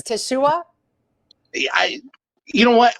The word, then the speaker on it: Teshuah: stuff and I know people have hard time pronouncing it or whatever but it's Tashua yeah I you know what I I think